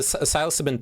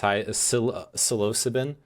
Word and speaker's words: psilocybin: I'm pretty sure it's pronounced psilocybin.